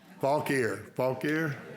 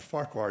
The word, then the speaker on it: Fauquier: All right, I wrote the pronunciation down. Fauquier. I'm from Mississippi. Bless you. All right. Yeah, I told him a while ago, I said, Farquhar.